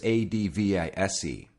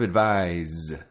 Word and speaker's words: advise: IC e adv IC e the verb is adv is e can you hear a difference in the way it's pronounced the noun advice advice and the verb advise advise I really work on pronunciation with my